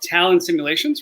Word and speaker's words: Talon Simulations: We have Brandon Nates, CEO of Talon Simulations, right? Did I pronounce that correctly?